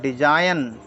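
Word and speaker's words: design: जी एन डी एस I gene इसको पढ़ेंगे डिजाइन डिजाइन H silent देख लेते हम एच साइलेंट को देख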